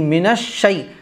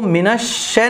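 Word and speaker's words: من الشيطان: غلط ہے، اسی لیے بڑی شین نکلے گی، منش شی نہ نکلے تو کوشش کیجئے گا، جتنی آپ پریکٹس کریں گے یہ لفظ خود بخود آپ کی زبان پر آنا شروع ہو جائیں گے۔ تو منش شے نہیں پڑھا جائے گا، منش شی منش شی،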